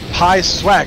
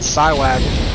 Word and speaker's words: Pi Swag: It's pronounced Pi Swag. Thank you. Thank you, Gwen2020, for giving me the proper pronunciation there. Pi Swag, not Psywag. I thought it was a Psyduck joke from Pokemon.